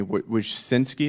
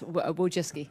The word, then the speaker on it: Wojcicki: Excuse me, Wojcinski, is that how you pronounce it? Yes, Wojcicki.